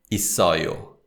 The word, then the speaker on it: 있어요: And this is pronounced 있어요, 있어요. So that's the main pattern. So that's the most common pattern, where if the 받침 is followed by either a particle or a verb or an adjective, the suffix, then the sound of the final consonant links with the following syllable.